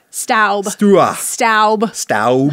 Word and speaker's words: Staub: No, Staub is very, assuming that's how you say it, I'm so sorry. To all somebody is very angrily typing in the comments right now. It's pronounced Staub.